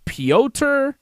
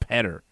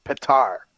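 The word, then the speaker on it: Pyotr: tonight, Israel Adesanya, and Piotr Jan. He's got those guys winning tonight. People call him Peter, but apparently it's Piotr. Whatever. Petter. I think it's Piotr. It's not Petter.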